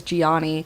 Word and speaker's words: Johnny: It's spelled Johnny, but they pronounce it as Gianni.